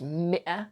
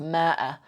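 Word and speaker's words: مئة: but it's not pronounced ma'ah. I've heard a news reporter on like BBC Arabic before saying ma'ah, but it's not correct. Mi'ah is how you say 100.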